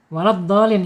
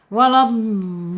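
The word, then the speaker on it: وَلَا الضَّالِّينَ: Mad arid lukun. Mad arid lisukun. Panjangnya apa itu? Waladdolin. Ya, itu enam harakat ya. Enam harakat. Betul Ibu Nani ya. Waladin ya enam harakat ya.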